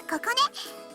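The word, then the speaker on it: 心音: 私はここね。心に音と書いてここねって言います。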